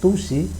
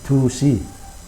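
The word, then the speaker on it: 두시: Nah, orang Korea itu D sama T itu digabung, jadi biasanya pengucapannya itu gabungan dari D dan T, jadi dusi.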